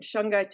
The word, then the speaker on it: shungite: you have courtz and you have shangai and shangai is spelled s h u n g i t